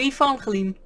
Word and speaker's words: Evangeline: In my language, by the way, the G is pronounced differently, so if I pronounce